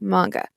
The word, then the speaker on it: manga: coined in japanese so it should be pronounced the way it was coined in the original language yes i am curious